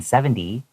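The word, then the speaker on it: seventy: So to avoid that, try to pronounce the TY as a DY. And then also try not to have a little bit of a weighting, like a nasal sound at the end. Keep it open so that people can know you're saying 70 and not 17.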